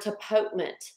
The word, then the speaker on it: tapotement: both I want you to say the word tapotement because the way it's spelled it's hard to pronounce and you want